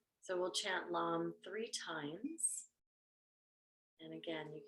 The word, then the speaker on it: lam: root chakra meladara is lamb lamb is l-a-m so that you know what it sounds like or how you spell it so we'll chant lom three times and again